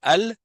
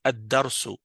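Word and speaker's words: الدرس: Quand j'écris par exemple, OK, donc toi tu vas lire al ça c'est incorrect. La vérité, c'est comme si tu l'écrivais de cette façon quand tu le prononces en arabe, c'est comme si tu l'écrivais comme ça. D'accord ? On enlève, on c'est comme si on a enlevé le lame. Pourquoi ? Parce qu'on le prononce pas. On fait la liaison à cause de la shadda et donc ça devient adarsou.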